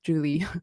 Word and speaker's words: Joulie: How are you preferring your name to be pronounced, by the way? Yeah, it's Joulie.